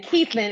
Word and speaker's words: Keithlin: It's like the man's name. So Keith and then Lynn. Keithlin.